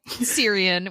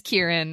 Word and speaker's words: Kieran: Hey, if we can go half of an entire podcast series calling a guy Syrian when his name is Kieran, I think we're okay.